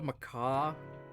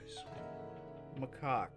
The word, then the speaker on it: macaque: Is it literally just called a macaw? Macaque. Okay. Yeah, it was in fact a macaque. Come to think of it, crab-eating macaques don't even live in Japan.